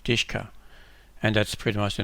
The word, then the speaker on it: DShK: triple-a but this one called DShK and it's pronounced ishka and that's pretty much